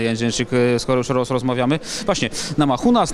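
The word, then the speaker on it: Namajunas: Właśnie, Nama Hunas, Nama Yunas, to różnie komentatorzy ją wymieniają, amerykańscy. Ty spotkałaś się z jaką wymową? Nama Yunas. Nama Yunas, czyli zostaniemy przy Nama Yunas w takim razie.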